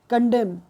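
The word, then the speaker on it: condemn: में W silent है और यहां पर कंडेम एंड साइलेंट है ओके तो राइट ऑप्शन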